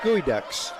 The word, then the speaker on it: geoduck: And traveling, little turnover on the Geoducks, Gooey Ducks. Why don't they spell it Gooey Ducks? Why is it spelled?